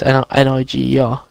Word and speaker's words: Niger: What, Niger? That is a. You're borderline in it here. But there is an African country called Niger. It's N-I-G-E-R.